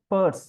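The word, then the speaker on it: Peirce: key notion in the semiotics of Charles Sanders Pur p i c but is pronounced Pur option A signifier B uh it should be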